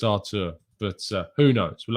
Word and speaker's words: Arthur: i think it's brazilian i think it's artur i i have i'm pretty good authority it's arto it's not arthur um i'm pretty sure it's artur but uh who knows